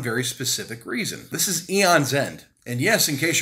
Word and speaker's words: Aeon: This is Aeon's End. And yes, in case you're wondering, that is the correct way to pronounce it.